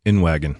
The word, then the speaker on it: Inwagen: Inwagen.